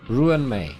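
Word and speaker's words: Ruan Mei: Pronunciation varies. Ruin. Ruin May. Yes, that does sound correct.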